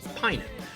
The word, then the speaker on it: Pinnen: And I realized I should have asked you, do I pronounce your last name as Pinnen? Is that Pinnen. correct? Pinnen.